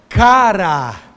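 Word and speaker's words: χαρά: Só que é cara. Cara. É assim que pronuncia.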